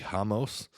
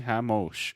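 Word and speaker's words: Ramos: He fought Davi Hamos Hamosh. I forget how to say it. He's Brazilian. It's They were saying, R-A-M-O-S. yeah, they were saying Hamosh.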